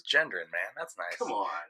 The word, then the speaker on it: Gendron: Gendron. Gendron? Oh, I thought it was like Gideon for some reason.